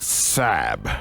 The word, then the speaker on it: Sab: He likes to be called Sab, S-A-B.